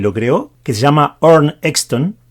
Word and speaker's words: Arne Exton: creó que se llama nn exton creo que se pronuncia así en sueco el nombre en español